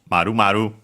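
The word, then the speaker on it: 〇〇: So, and is pronounced maru maru. So, literally circle circle.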